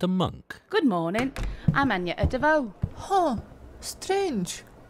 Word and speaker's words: Agnetha Deveaux: monk good morning I'm Anya Davao strange your name is not pronounced how it's written uh nah it's one of them weird ones from up North different language with the silent consonants only when my accent